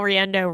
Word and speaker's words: Riendeau: page too it's rendo writer let me spell rendo to make it easy spell r i e n d e Au lots of vowels it's all in there rhymes with Nintendo yeah rhymes with Nintendo